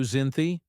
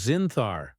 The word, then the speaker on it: Zinthar: "Be glad to show you, Zynthy. It is Zinthar." The alien corrected, pronouncing it with a series of throat clicks.